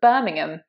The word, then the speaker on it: Birmingham: It's not Birmingham, Birmingham, anything like that. It's Birmingham. That ham part at the end, we have a silent H, in fact. It's just an Birmingham. It's an sound, not an ah, that's why it's not ham.